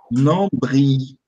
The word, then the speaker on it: nombril: Nombril. Le nombril. Nombril. Le nombril. Nombril. Aí, o L. Ele é facultativo aqui, ó. Nombril e nombril. Então, tem as duas pronúncias.